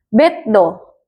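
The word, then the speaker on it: ベッド: Do ini depannya huruf D. Berarti yang digandakan itu huruf D-nya. Tambahin satu lagi. Jadi beddo.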